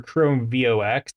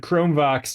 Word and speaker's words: ChromeVox: On Chromebooks, it's called Chromevox or Chrome VOX. I assume it's pronounced Chromevox. So at least for this stream, that's how I'm going to refer to it as.